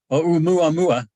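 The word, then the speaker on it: ʻOumuamua: How do I pronounce this? Oumuamua the Great Hawaiian name.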